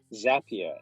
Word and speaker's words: Zapier: actually looking at is i know you're thinking it will rhyme with tap cap and gap and you're right there is a tool called zapier and zapier is an